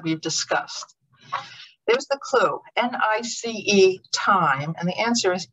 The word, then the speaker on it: Nice: The clue word looks like it should be nice, a nice time, but in fact it rhymes with, it's more like it's the word Nice, which is a city in France.